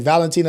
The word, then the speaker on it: Valentin: Valentin Alexander. Ah, you like that one? You like those R's? Yeah, you gonna have to spell that shit, cuz. Valentin Elizalde. Like Valentine almost.